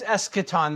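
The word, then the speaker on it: eschaton: Well, it's escaton. The c is hard and that's tricky because because the you're right a lot of times that ch would be soft.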